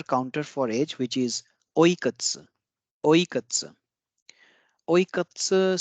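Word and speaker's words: いくつ: Next is another counter for age, which is oikatsu. Oikatsu. Oikatsu. So pay attention to the pronunciation. I didn't say oikutsu. So this is again the devoicing of vowels since this is k and this is ts.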